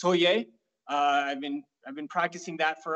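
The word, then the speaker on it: 서예: Yeah, I've been doing Shodo, or in Korean it's pronounced Soye.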